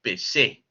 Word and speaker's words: Pêcheux: en la lectura de Michel Peyot, ¿no? O como también se le pronuncia Michel Pechet, ¿no? Yo prefiero Peyot, porque así más o menos me motiva la pronunciación en el francés.